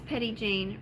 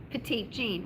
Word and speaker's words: Petit Jean: Somebody says, like how we in Arkansas pronounce petit jean, right? Like petite jean.